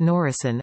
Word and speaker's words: NOR.I.C.1: Norwegian Independent Company 1 (NOR.I.C.1, pronounced Norisén (approx. "noor-ee-sehn") in Norwegian) was a British Special Operations